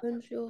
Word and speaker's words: bonjour: У нас вот это bonjour. On, сейчас покажу. On, ой, извиняюсь. On идет в нос. Bon. И jour. У нас будет читаться как U.